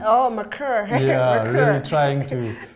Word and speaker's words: Mercure: competitive sector, and where we see things like Mercury, or how do you pronounce the Safari's new name? Oh, Mercure.